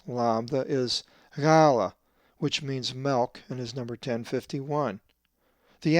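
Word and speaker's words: μῦ: The 12th letter of the Greek alphabet is the upper and lowercase mi, which is always pronounced as ma, as in mother.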